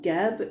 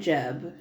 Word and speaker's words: Geb: And I've heard it pronounced both Geb and Jeb.